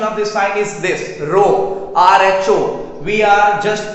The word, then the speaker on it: rho: The pronunciation of this sign is this, rho, RHO. We are just pronouncing this sign as rho.